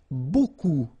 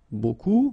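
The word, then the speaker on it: beaucoup: you want to use Buu Buu means a lot of it look it looks a bit strange B like that remember you don't pronounce the final P okay and then you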